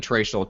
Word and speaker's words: Traichel: an i and then trachel t r a i c h l correct yes it's pronounced Rachel with a t yep perfect all right